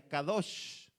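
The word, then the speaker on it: קדוש: Y la santidad viene de una palabra hebrea que se pronuncia kadosh, santo.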